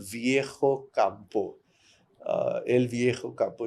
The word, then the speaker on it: Viejo: Viejo in Spanish means old. Okay. And it's spelled with a J. So he kept saying Viejo. So I said, then after I cooled down, I said, I'm really sorry I was curt with you, but I also want to point out something. This is how you pronounce it.